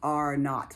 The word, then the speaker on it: R naught: like a zero right pronounced are not like not for naught right not like a knot and tie but the r naught